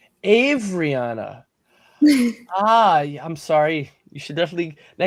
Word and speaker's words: Avaryana: I think her name is pronounced Avariana. Am I saying it right? Is he correcting me? Do I have to correct how I pronounce your name? You're so close. It's Avariana. Avariana.